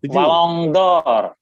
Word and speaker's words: Ballon d'Or: Ballon d'Or. Itu Ballon bacanya. d'Or. Ballon d'Or. Kayak orang yang ada masuk di mulutnya.